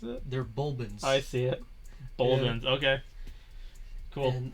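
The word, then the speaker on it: Bulblin: i just called them goblins how did they pronounce it they're bulbans i see it okay cool in his pursuit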